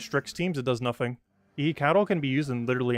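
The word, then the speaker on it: Ehecatl: Pronunciation. Cattle.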